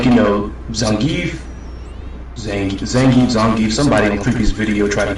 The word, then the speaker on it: Zangief: Like, Zangief, somebody in Creepy's video tried to give me crap about the fact I said Zangief.